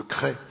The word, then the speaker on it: Crest: De Cré. De Cré? Eh. Crest, ça s'écrit.